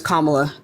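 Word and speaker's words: Kamala: to tell you why that's not how you pronounce her name it's commala Kama is a word in the English language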